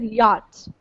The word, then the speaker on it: yacht: But it's not spelled the way it sounds.